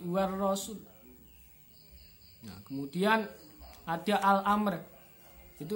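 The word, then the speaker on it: والرسول: Kemudian ar-rasulah, nah di situ ada ar-rasul, maka alif lam kemudian diikuti setelahnya adalah ro, maka di situ bacanya adalah idgham syamsiyah. Jadi alif lamnya ketika dibaca seakan-akan tidak ada. Jadi bukan wa ar-rasul, tapi war rasul.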